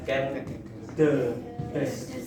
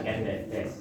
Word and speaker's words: Ken Dedes: Jadi bacanya Ken Dedes, bukan Ken Dedes.